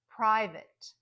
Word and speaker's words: private: Private. You hear the you hear the I, right? Private. But then that A is reduced.